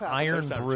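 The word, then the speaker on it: Irn-Bru: Iron Brew is pronounced iron brew. There's always something that the No, but they don't say iron like I say iron. Dash dance.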